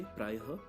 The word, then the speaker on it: प्रायः: इसका उच्चारण ह जैसा होता है, जैसे प्रायः, अंतःकरण का अंतःकरण, प्रातःकाल का प्रातःकाल आदि।